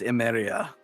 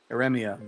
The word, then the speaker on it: Eremia: Nagisa Chaos Emeria. Eremia. There we go. I said it wrong. I put the R in the wrong place.